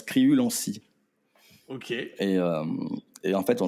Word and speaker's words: Criulanscy: Non, ça se prononce Criulancy.